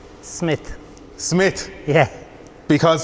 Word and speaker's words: Smyth: Smith Smith yeah because there's parts of the world and they pronounce it Smite and it really bothers me and fellas don't believe me when I say it's Smith they're like no no Smite oh no definitely Smith right Sam obviously I'm